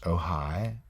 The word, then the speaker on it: Ojai: in spanish and also Ojai California but it's spelled oj AI but pronounced oh hi and san jose SI